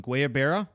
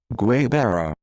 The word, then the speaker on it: guayabera: Guayabera Citra Pale Ale, maybe Guayabera, something like that. I think you were right with the first one, Guyaberas. I actually downloaded a YouTube video earlier to actually hear how it is pronounced.